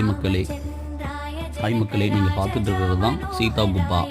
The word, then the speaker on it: சீதா குபா: ஹாய் மக்களே, நீங்கள் பார்த்துட்டு இருக்கிறது தான் சீதா குப்பா. இந்த சீதா குப்பா அப்படிங்கிறது சீதா குபா என்று உச்சரிக்கப்படுகிறது.